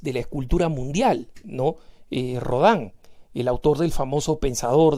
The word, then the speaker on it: Rodin: la escultura mundial no rodan el autor del famoso pensador de ródano rodin como quieran pronunciarlo si quieren pronunciarlo en español pero él pero julián